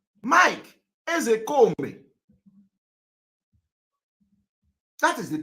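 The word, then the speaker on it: Ozekhome: When I want to pronounce, I pronounce it the way Igbo people are pronouncing it.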